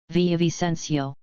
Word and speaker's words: Villavicencio: Actually, let me have Restream Chat just pronounce this name for me. That way I can articulate it properly. Spiracid 77666. Villavicencio. Villavicencio.